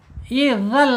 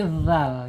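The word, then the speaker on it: ذال: Bukan zal tapi dzal ya.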